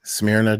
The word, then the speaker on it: Smyrna: that's how the people in Smyrna, Georgia pronounce it.